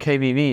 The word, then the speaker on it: KWV: How do you pronounce it correctly? KVV? KVV, it's the famous co-op, actually.